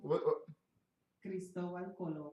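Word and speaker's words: Cristóbal Colón: How do they say his name? Isn't it Cristobal or Cristipono? Cristobal Colon. Yeah, Colon. Right?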